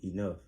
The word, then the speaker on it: enough: Why do all the GHs sound like Fs? Don't come back. Come back. I'm just asking. Why do they sound like Fs? Why they just didn't put an F?